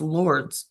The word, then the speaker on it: Lourdes: Lourdes is France. I thought Lourdes was France. Lourdes? Lourdes? Lourdes. No, it's Lourdes. Lourdes. That's how you pronounce that.